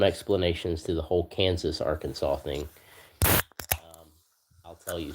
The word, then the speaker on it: Arkansas: So Kansas and Arkansas cuz Arkansas is spelled A R K A N S A S. So you would think it would be pronounced R Kansas, but it's not pronounced R Kansas.